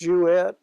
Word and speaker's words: Jewett: whole name Jewett Georgia wet je w TT it's pronounced you it and the name does